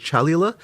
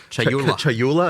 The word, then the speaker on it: Chayula: So the acolyte of, I always get this name wrong. The acolyte of is it Chalula? Chayula.